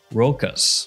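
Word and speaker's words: Rochas: Next up, we have Lhomme Rocas. Yeah, I looked that up and that's how you say it.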